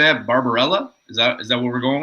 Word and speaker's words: Barbarella: Barbarella? Is that what we're going with? Barbarella?